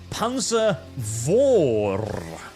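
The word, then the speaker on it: Panzer V: on saying Panza V it's not Pan the Germans are just kind of and pronounce their V's as FS I don't know why don't ask me don't look at me I don't understand it either but that's how they speak that is how they Spen and with just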